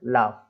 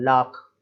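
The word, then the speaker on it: laugh: लाफ इस तरीके से बोलता है, लाख, लाग, ऐसे नहीं बोलना है।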